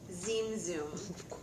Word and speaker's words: Zim Zum: saudi in english but barnett newman called it z-i-m-z-u-m and i um i talked to my folks over at sfmoma and they pronounce it zim zoom and that is the best i think our best way to to pronounce it as newman titled it of course the